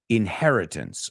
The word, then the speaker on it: inheritance: Inheritance, vamos a decirlo, el sustantivo inheritance, el verbo to inherit, okay, say it with me, porque esa H hay que pronunciarlo, pero no muy fuerte. It's not inherit, inheritance.